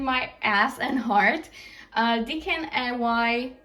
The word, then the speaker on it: DKNY: a pain in my ass and heart uh dkny dkny that's how you say it next to love